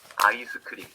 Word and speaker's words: 아이스크림: 아이스크림. 5 syllables. It's 2 syllables in English. Ice cream. 아이스크림. 5 syllables.